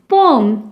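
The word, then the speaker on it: poem: देखिए, आई right पोम, ये पोएम नहीं बोलना, इसकी प्रोनाउंसिएशन जो होती है वो पोम होती है।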